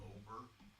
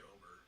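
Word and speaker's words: Ober: Alright, I'll take Bailey over, but just because his name rhymes with ogre, so Not Ogre.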